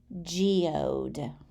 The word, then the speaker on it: geode: a rock that's lined with crystals and minerals geode spell it whatever you think best you can you